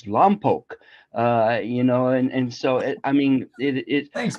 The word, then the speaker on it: Lompoc: he calls Lompoc Lompoc, because it's spelled Lompoc. And by the rules, it would be Lompoc. But for the sake of not being ignorant, it's Lompoc.